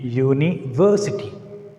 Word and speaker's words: university: Here we need to put a stress on V, university. Here we are pronouncing, we are stressing the syllable V.